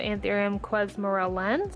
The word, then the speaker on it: anthurium: have the cirritus mirabellas this is a anthurium I believe you pronounce it antharium Quest Morel lens it's